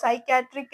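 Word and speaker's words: psychiatry: ചെയ്യുന്നത് ചില വേർഡ്സില് ഇപ്പോൾ സൈക്യാട്രിക് എന്ന് പറഞ്ഞാൽ അവിടെ പി ഉണ്ട് പക്ഷെ നമ്മൾ അത് പി എഴുതുമ്പോഴാണ് എഴുതുക നമ്മൾ പറയുമ്പോൾ പറയത്തില്ല നമ്മൾ സൈക്യാട്രി തന്നെയാണ് പറയുന്നത് ഓക്കേ ഇപ്പൊ സുനാമി എന്ന്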